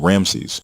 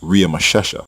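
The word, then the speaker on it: Ramesses: fashioned which was part of the Royal name Ramsey in which was actually pronounced RI mashesha by native Egyptian speakers not Ramsey the Egyptian name in Genesis 4711 and exodus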